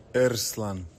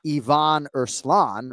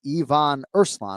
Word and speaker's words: Yvon Urslan: There's a there's a roll of the R there. Urslan. But notice how you emphasized correctly the first syllable on Urslan. And again, I just bring this up to people because this is my job, right? So, it's not Ivon Urslan, right? It's Yvon Urslan, right? He emphasizes the first syllable in both names.